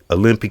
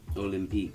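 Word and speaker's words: Olympique: Olympic okay it's the L O G Olympic heat okay that's what it says folks I can't say okay concert delago. Say that word again. Olympic.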